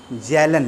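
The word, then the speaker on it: Kjellén: silent होगा ध्यान रखिएगा के साइलेंट होगा तो कहीं कहीं पे देखिए क्वेश्चन आया हुआ है तो जो नहीं जानते हैं तो के जेलन लिख देते हैं उसको है ना लेकिन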